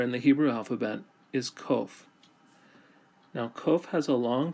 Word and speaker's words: qof: Qof. Qof sounds like the letter Q in English.